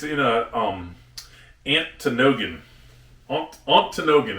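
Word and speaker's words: Ontonagon: Antinogan is how you say it.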